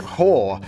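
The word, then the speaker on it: Haugh: During the winter of 1886, a young scoundrel named Oliver Crook Hoare was, it's spelled H-A-U-G-H, but Oliver Crook Hoare.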